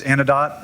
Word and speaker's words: Anodot: Um so one is Anodot or Anidote depending on where you're at how to pronounce it.